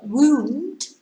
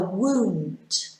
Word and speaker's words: wound: uh i can't remember which one wound is when you hurt yourself if you cut yourself you have a wound yeah wound is the past tense of wind so you can wind string and yesterday i wound some string pasta so wound and wound difficult isn't it difficult